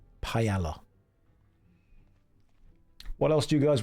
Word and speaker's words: paella: Now, some of you will say, "Josh, it's pronounced paella." No. There is an L in the word. Paella.